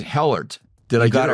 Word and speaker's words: Helart: Now, I'm going to say Helart. Did you I get it right? Right on. Well, it's there spelled it out phonetically here.